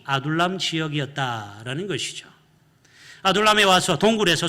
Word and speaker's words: 아둘람: 발음이 좀 어렵긴 하죠. 한번 따라해 볼까요? 아둘람.